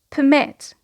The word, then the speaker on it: permit: So here, because it is a verb, the stress is on the second syllable, to permit. Permit. So you notice that we have a schwa in the first syllable, and I want to